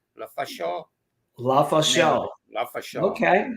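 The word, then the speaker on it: Lefaucheux: Well, they live in New York, but he's from Canada, and he said it's pronounced La Fachon. La Fachon.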